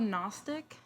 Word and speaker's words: Gnostic: Um, it's uh it's called Gnostic Gnostic Christianity. Gnostic. GN. Well, not agnostic. Yeah, it's gnostic. Gnostic. It's uh the G is silent like in lasagna.